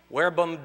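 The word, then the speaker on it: verbum: words as explained there where BOM domine Monett ni tere naam in Latin they pronounce a V like a w where BOM domine monit ni tere naam the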